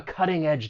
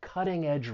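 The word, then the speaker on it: cutting-edge: when pronouncing this word the stress is going to be on that first syllable and that T I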